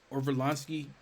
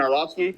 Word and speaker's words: Orlovsky: Dan Orlovsky, however you say his name. Dan Orlovsky.